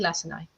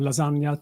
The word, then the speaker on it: Lacinai: warm welcome to Antoni Lacinai. So, Antoni, the floor is yours. Thank you so much. Thank you for pronouncing my name correctly as well. I have been called everything from lasagna to last night.